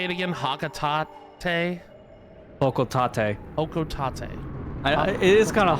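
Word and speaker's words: Hocotate: Hokotate. I It is kind of hard to pronounce at first. I think of hokco and then tat like you know tomato tomato kind of situation.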